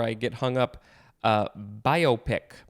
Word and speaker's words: biopic: get hung up uh biopic that's how it is pronounced biopic not biopic it is biopic b-i-o-p-i-c i think i'm the only one who wants to pronounce it the other way this is a noun